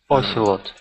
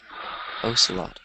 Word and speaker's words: ocelot: It's pronounced like this: ocelot or ocelot. I think ocelot sounds more correct though.